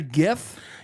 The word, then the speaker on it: GIF: moving picture yes uh isn't it a gif yeah 83 of people agree with you GIF with a hard G yeah now be a